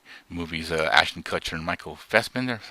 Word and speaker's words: Fassbender: two Steve Jobs movies, Ashton Kutcher and Michael Fassbender, is how you say his name? Fassbender.